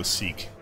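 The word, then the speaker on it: Sikh: mean another 10 percent morale if we go seek seek okay that's what I thought seek death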